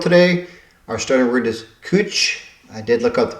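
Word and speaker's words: cwtch: Our starting word is cooch. I did look up the pronunciation of it. Ctch. It's a Welsh word and I think it means a nook or something of that nature.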